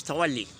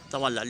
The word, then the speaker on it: tawalli: In fact, its accent is tawalli, but in Indo-Pak we usually pronounce it as tawalla. Let me continue with the subcontinent accent.